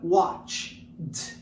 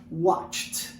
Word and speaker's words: watched: E aí o passado, você coloca o ed nele, fica watched. Novamente o E não é pronunciado, watched.